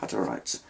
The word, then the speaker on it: Hutterites: In the early days of setting up the community, they'd had contact with the Hutterites. It's spelt with 2 T's, Hutter and then Ites, Hutterites.